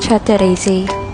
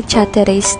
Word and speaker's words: Chateraise: cake dito sa Japan ito ang sh Teres huwag ka sinch ko pa talaga ang tamang pronunciation nito at Yun nga ang ch Teres dahil ang tawag ko talaga dito ay chatter race dati Kayo ba Ano bang